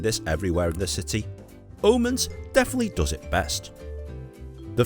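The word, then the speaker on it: Aamanns: This is world famous Omens. Yes, the double A is pronounced as an O in the Danish language, just so you know.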